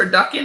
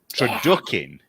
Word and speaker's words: turducken: what a turducken is? Turducken.